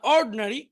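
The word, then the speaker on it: ordinary: আবার দেখি, অ্যাটেন্টিভ মনোযোগী, ইনঅ্যাটেন্টিভ অমনোযোগী, ইন্ডাস্ট্রিয়াস পরিশ্রমী, আইডল অলস, এডুকেটেড শিক্ষিত, ইগনোরেন্ট অশিক্ষিত, ইন্টেলিজেন্ট বুদ্ধিমান, অর্ড এখানে আইটা উচ্চারণ হবে না, অর্ডিনারি সাধারণ।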